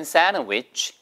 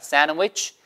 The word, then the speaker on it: sandwich: I'd like a half sandwich를 빨리 하면 sandwich. sand 할 때 드 발음이 사라지는 거예요. sandwich.